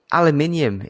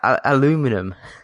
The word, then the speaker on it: aluminium: It's like aluminium. It's not aluminum. Actually, it's both.